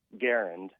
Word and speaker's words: Garand: correct you real quick you pronounced that the m1 garand John garand was his name and it's properly pronounced garand oh really yep that